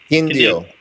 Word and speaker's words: Quindío: Quindío. Yes. Yes. Just want to make sure I I'm uh pronouncing that right.